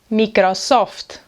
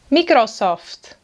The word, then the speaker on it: Microsoft: Maybe you have a *computer* (I meant *operating system*) of this brand “MICROSÓFTE”, “MICROSÓFTE”.